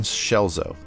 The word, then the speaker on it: Scelzo: creative strengths podcast to learn more about austin schelzo and to reach out to him i recommend